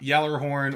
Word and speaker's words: Gjallarhorn: a trailer once and I really liked the way that the the vo said it in the trailer which is Geller Horton I understand people say Yeller horn or Gjallarhorn or Gjallarhorn I do pronounce the entire thing which I know is wrong rifle and even just